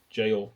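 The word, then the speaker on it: gaol: I guess that's jail, but it's spelled like G A O L.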